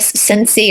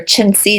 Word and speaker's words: Cenci: kind of honoring beatric ciny or chiny depending on who you are what country you're from how her last name is pronounced so she was born